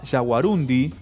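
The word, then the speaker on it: yaguarundí: porque por ahí aparece hay una tendencia como a pronunciar como una palabra aguda no jaguarundi pero está bien dicho entonces sí sí con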